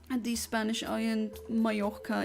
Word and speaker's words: Mallorca: It's also just like the Spanish island, Mallorca. It's not Mallorca or whatever because it has 2 L's. That gets pronounced differently.